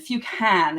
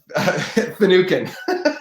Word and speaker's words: Finucan: Jason Finucan, is that how you say it correctly? Close. It's actually Jason Finucan.